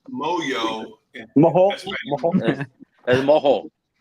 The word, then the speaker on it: Mojo: It's pronounced Moyo.